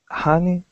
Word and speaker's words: honey: time um okay um that is actually pronounced like an uh honey not honey but ha like honey honey honey honey yep